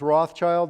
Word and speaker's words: Rothschild: It's Rothschild. There's a silent S there, like the town here in Wisconsin.